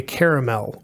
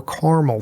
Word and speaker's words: caramel: it to c68 E17 which is a caramel or caramel color if you will depending on how you pronounce that I hear it both ways okay now that we've